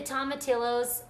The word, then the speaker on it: tomatillos: When you say peel the tomatillos, is that how you say it? Yes.